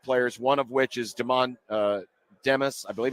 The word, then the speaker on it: Demas: So Nebraska this week offered a couple of junior college players, one of which is Demas. I believe it's pronounced either Demas or Demas, D-E-M-A-S.